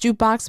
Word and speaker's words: JKBX: out Scott Cohen joined jukebox now it's pronounced jukebox but it's spelled JK BX in 2022 as founding